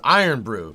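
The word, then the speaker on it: Irn-Bru: nice James there you go some what it's pronounced iron Brew no no no no no knowing Scotland you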